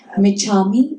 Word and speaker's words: Michammi: What is the pronunciation again? Micha me, m i c h.